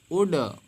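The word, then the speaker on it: would: उड, उड मीन्स गा या चाहेंगे। तो वुड में डी के पहले देख पाएंगे यहाँ पे क्या आया है, एल आया है, तो एल आपका साइलेंट हो जाएगा।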